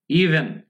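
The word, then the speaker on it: even: ইভেন উচ্চারণ কি, ইভেন, বন্ধুরা ভয় বেশিরভাগ ক্ষেত্রে ভি এর উচ্চারণ কিন্তু ভি এরকম হয়, ভি এরকম হয়, মানে ডিরেক্টলি আপনি মানে ভি আবার বি দুটাই বলতে পারবে না, এটা কিন্তু ব বা ভ বাংলা যেটা বলি দুটার মাঝখান থেকে উচ্চারণ করতে হবে।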